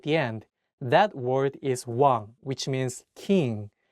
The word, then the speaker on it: 왕: In this case, you don't pronounce the iung at the beginning of the word. Only say the wa and pronounce the iung at the end of the word as ng.